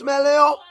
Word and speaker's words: Melio: Right pronunciation of the name is Melio. Melio.